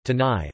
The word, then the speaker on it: canai: Roti kanai pronunciation, tanai, also known as roti kane, tane, or roti prata, is